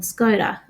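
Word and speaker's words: Skoda: The there's a a car ad for example uh for a brand um called SCOD. That's how we pronounce it in Australia.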